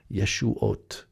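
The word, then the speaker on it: ישועת: ooh sound but novav same exact word pronounced exactly the same yeshuat salvations of israel and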